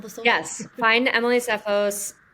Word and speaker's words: Tseffos: social yes find Emily sephos her name does not pronounce the T in sephos but there